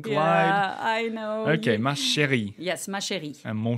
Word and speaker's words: ma chérie: It's ma chérie. No, here you don't do a gliding because there's an accent. I'm sorry, can Oliver. You try and glide. Yeah, I know. Okay, ma chérie.